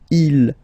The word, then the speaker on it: ils: Okay, so you can notice that even if you've got this S at the end, and then here you don't have anything, well, you pronounce them the same way.